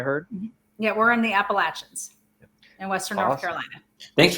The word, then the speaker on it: Appalachia: that what I heard yeah we're in the Appalachians in Western North Carolina thanks for pronouncing it correctly it's pronounced Appalachia yes I